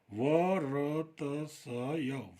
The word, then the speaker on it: वर्त्स्य: ठीक है, तो इसको पढ़ेंगे वर्तस्य, वर्त्स्य। ठीक है, इसको आप ठीक से समझ लें, वर्त से इसको पढ़ा जाएगा।